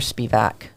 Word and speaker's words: Spiwak: I say it like that because it's a W, but Yeah. you're SPIWAK. W's like a V.